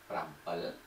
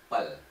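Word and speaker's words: ប្រាំពីរ: Okay, this is also 7, okay, so one more time, for 7, written, prampi, prampi, spoken, you have two options, prampel, prampel, or mpel, mpel.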